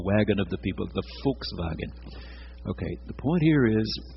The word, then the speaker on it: Volkswagen: The W has the V sound, and the V has an F sound. That little beetle was called the Volkswagen. The Volkswagen, the little wagon of the people.